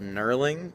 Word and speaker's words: knurling: the rough part and this rough part is called knurling that's with a silent G and it's there so